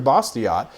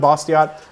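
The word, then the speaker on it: Bastiat: argument that we're facing nowaday and and friedi bosot was facing those same problems when he uh was arguing this in the French legislature if you guys haven't read bosot another great book uh his last name is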